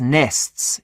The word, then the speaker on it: nests: এর একটা কারণ হলো যে নেক্সট, ফার্স্ট, লাস্ট এই শব্দগুলো ব্রিটিশরা এস এর পরে টি থাকলে টি এর উচ্চারণ করে না, যখন প্লুরাল হয় তখন সেটাকে কি একটু চাপ দিয়ে বলে নেস, কি বলে নেস, এমনটা।